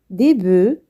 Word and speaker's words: bœufs: Un bœuf, des bœufs. Un os, des os. On ne prononce pas les consonnes finales.